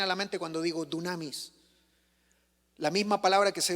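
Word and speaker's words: δύναμις: La palabra poder es la palabra griega que se pronuncia dunamis. ¿Qué se te viene a la mente cuando digo dunamis?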